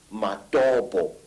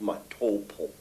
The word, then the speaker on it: Matobo: And one of these parts of Africa, sir, is a remarkable place called the Mountains of the Round Rocks, Matobo, wrongly pronounced Matopo, in Zimbabwe.